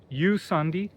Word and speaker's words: Jusandi: room boutique hotel called Yandi spelled J U S A N D I but pronounced the J is pronounced as Y um which is common place uh outside of the English world. So Yandi is uh just five uh individual villas.